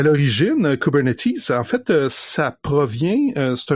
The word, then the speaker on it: Kubernetes: En anglais, on dit Kubernetes. Donc, on prononce le S à la fin.